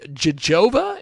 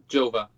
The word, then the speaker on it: Gjova: this but it's probably jojoba is that right Jova Joba so the g is silent of course it is